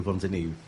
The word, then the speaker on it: Fontanieve: uh something like that in Italian it sounds like font but many people mistake my surname like in in an English way or in a German Way like Fontan but is